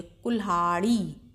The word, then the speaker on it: कुल्हाड़ी: पे उसको हल्के से, और जो इसके बाद में ये अक्षर है हा, इसके संग मिला के बोलिए, कुल्हाड़ी। हा के संग ही ला का भी उच्चारण कीजिए, और ला की ध्वनि हल्के से आएगी, कुल्हाड़ी।